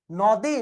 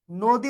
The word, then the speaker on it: নদী: যেমন নদী না নদী, নদী উচ্চারণ হয়। কেন নদী উচ্চারণ হচ্ছে? দয়ের সাথে দীর্ঘইকার আছে, নয়ের সাথে অ আছে, এবং অ এর পরে রসই বা দীর্ঘইকার থাকার কারণে অটা হয়ে যাচ্ছে ও।